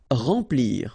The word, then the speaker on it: remplir: Remplir. Okay, M nasal, en, remplir.